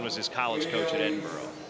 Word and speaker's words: Edinburgh: In case you're wondering, Tim Flynn was his college coach at Edinburgh. It's actually pronounced Edinburgh, but I think you'd have to adjust your TV screens at home if you say that too often.